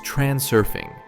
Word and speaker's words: Transurfing: Note, it's transurfing. Plain and simple, just as it's spelled, no twists or tweaks.